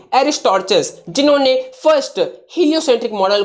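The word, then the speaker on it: Aristarchus: एरिस्टॉर्चस, जिन्होंने first heliocentric model को मतलब लाया था, यानी पेश किया था। तो एरिस्टॉर्चस, not Aristotle, एरिस्टॉर्चस spelling is here.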